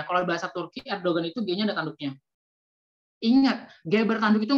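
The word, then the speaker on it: Erdoğan: gimana cara membacanya tadi Kalau game bertanduk itu nggak dibaca berarti abaikan saja langsung saja segampang itu jadi Erdogan Gimana sih cara membaca Erdogan Erdogan itu kan g-nya ada tanduknya ya kalau bahasa Turki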